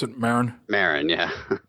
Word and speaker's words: Maron: so Mark Mar listen is that how you pronounce it Marin Marin yeah m a r o n yeah